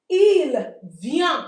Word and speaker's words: ils viennent: Ils viennent, we don't pronounce the ent.